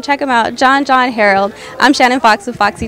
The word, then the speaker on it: Harreld: last name wrong no it's Harold it's actually pronounced Herold okay uh but you know but it's better than when a teacher from maybe fourth or third grade pronouncing it harfield so if you say haral you're still you're